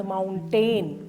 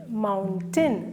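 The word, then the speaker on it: mountain: mistake ആണ് അവർ പറയുന്നത് മൗണ്ടൻ മൗണ്ടൈൻ അല്ല മൗണ്ടൻ മൗണ്ടൻ സ്ട്രസ്സ്ഓ ഫസ്റ്റ് സിലബിൾ രണ്ട് സിലബിൾ ആണ്ഉള്ളത് സ്ട്രെസ്സ്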